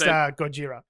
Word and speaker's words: Gojira: billboard referred to as Godzilla. That's amazing. It's actually pronounced Gojira. I don't think in the American English. That's pretty probably sure. a bit dicey. Pretty sure it's Gojira.